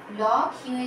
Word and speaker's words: লক্ষ্য: যুক্ত বর্ণের ক্ষেত্রে যেমন দেখো ল ক্ষিয়ে জফলা, উচ্চারণ হবে ল ক্ষিয় মতন লক্ষ্য, লক্ষ্য।